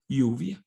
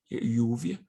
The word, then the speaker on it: lluvia: This word you can pronounce it lluvia, like a Y, lluvia. And some people pronounce it like lluvia. For us, there's no problem. Either lluvia or lluvia is the same thing.